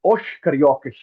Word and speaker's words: os cariocas: In the Rio accent will be pronounced as os cariocas.